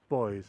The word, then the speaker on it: Bois: tells me that um it is pronounced boys as everybody else locally does the Flint is quite